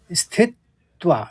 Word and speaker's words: स्थित्वा: तीसरे चरण में तो यहां पर आघात आपको समझने है स्थित्वा स्थित फिर त्वा स्थित्वा फिर उसी के साथ